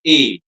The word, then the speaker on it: et: Then there is a small word which is pronounced as et, which means and. The T is always silent. Okay, we never pronounce it. Under any circumstance, it will be silent. So it will be a. It never becomes et.